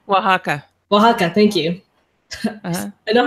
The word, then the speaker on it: Oaxaca: Oaxaca, thank you. I know how it's spelled, but thank you.